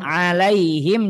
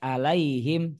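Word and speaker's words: عليهم: alaihim Nar musah lafaz alaihim juga sama harus diperhatikan Jangan ee dibaca seperti huruf hamzah alaiim salah harus dijelaskan huruf ainnyaaiai seperti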